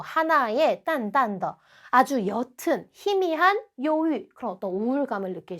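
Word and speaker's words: 忧郁: 요유라고 발음을 하고요.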